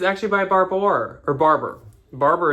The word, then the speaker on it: Barbour: Barber is actually how you say it. I just, for some reason, always accidentally say Barbour.